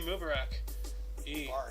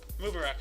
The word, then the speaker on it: Mubarak: We also have in 1991, Iraq rejected peace proposal from Egyptian President Hosni Mubarak. Mubarak, sorry. Mubarak. I can't pronounce it even when I'm corrected.